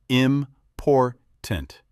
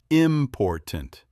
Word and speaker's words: important: Like in the word important, you stress the second part, important, not important.